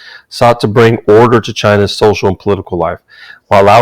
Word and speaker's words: Qin: next one is the chin dynasty it's pronounced chin and that's where we get the word china from so the qin dynasty